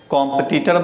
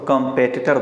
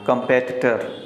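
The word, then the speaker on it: competitor: तो न तो इसे कॉम्पिटिटर बोलना है, न इसे कॉम्पिटिटर बोलना है। जब भी बोलना है तो कंपेटिटर बोलना है। कंपेटिटर।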